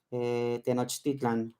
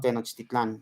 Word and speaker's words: Tenochtitlan: Yo diría como en náhuatl, Tenochtitlan, no Tenochtitlán, ¿no?